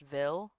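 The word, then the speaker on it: Ville: It's pronounced Vil.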